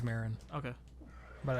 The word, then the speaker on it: Maron: Maron is is is is it pronounced Maron I think it's Marin okay but I like